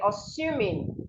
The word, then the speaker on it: assume: So you have assume, assume, not assume. Listen to how I pronounce this word. Assume. The S here makes a sound, not Z. So do not say assuming that, as you would always see people say. You should say assuming.